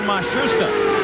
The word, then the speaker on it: Matsushita: of the Penske cars they've changed the pronunciation again they've given it to us four or five different ways now it seems that they have settled on mashusta the start of the year with Matsushita but he is the